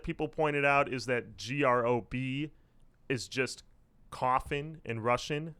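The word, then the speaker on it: Гроб: The other thing, too, that people pointed out is that GROB is just coffin in Russian. So no one says their band name as GROB.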